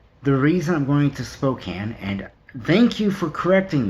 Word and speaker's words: Spokane: reason I'm going to Spokane and thank you for correcting me on how to pronounce it it's Spokane not Spokane I don't want to